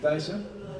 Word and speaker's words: Thijsse: a lot and um my name is actually tyer pronounce it Ty yeah it's it's unpronounceable